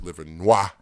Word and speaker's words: Livernois: of fashion if you don't know that is Livernois if you don't know that it's pronounced liver Noir right and it's a whole history with that